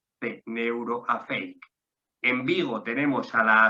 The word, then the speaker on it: Neuroafeic: En Granada tenemos a Neuroafeic, ¿vale? Neuro, como se escribe, y luego Afeic son siglas, A-F-E-I-C, A-F-E-I-C, Neuroafeic.